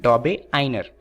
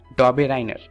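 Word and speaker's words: Döbereiner: दरअसल ये यूके की प्रोनाउंसिएशन है। दरअसल ये जो साइंटिस्ट हैं वो जर्मनी के हैं और इनके नाम में बहुत दिक्कत होती है, तो यूके वाले इसे प्रोनाउंस करते हैं डॉबे आइनर। वहीं पर जो इंडियंस हैं वो इन्हें प्रोनाउंस करते हैं डॉबे राइनर। तो आप दोनों में से किसी का भी इस्तेमाल कर सकते हैं, परंतु कोशिश कीजिएगा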